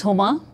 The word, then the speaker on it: Huma: My name is Homa. H U M A and H is not silent.